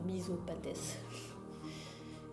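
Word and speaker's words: Misopates: Faudrait que j'essaie de le retenir en disant misopathès. Prononcer toutes les lettres quoi.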